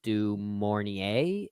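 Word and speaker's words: du Maurier: source material but I know its author Daphne dorier is that's how you pronounce her name uh I could have helped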